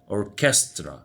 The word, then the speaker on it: orchestra: unit 9 فرقة موسيقية orchestra ch هنا ك orchestra موسيقار musician مراسل إذاعي